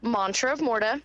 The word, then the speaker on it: Mantra of Morta: but you are saying it wrong it's mantra of morta it